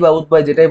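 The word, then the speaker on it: উদ্বায়ী: উদ্বায়ী পদার্থ উদ্বায়ী পদার্থ উদ্বা উদ্বা যেটাই বলেন মূল উচ্চারণটা হচ্ছে উদ্বয়ী উদ্বায়ী পদার্থ যেটা মানে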